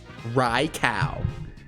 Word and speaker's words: Raikou: Raikou. That's how you pronounce it.